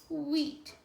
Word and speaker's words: wheat: Okay, and with this sound, we're pronouncing the sound backwards. Wheat. You hear the H first, then the W. Why? Hear the H before the W.